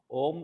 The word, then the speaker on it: ओम: ओम जैसे 3 शब्दों से मिलकर बना है, आ, उ और मा। तो इन तीनों शब्दों का बराबर उच्चारण करते हुए आ बोलिए, फिर उ बोलिए, फिर माँ।